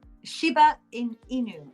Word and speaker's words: Shiba Inu: And is the Shibu Inu? How do you say that? Shiba Inu? Shiba Inu.